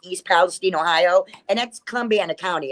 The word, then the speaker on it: Columbiana: Columbiana County. Columbiana.